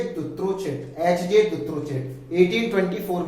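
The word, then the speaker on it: Dutrochet: इसको इस तरह से प्रोनाउंस करेंगे, दुत्रोचेट, HJ दुत्रोचेट।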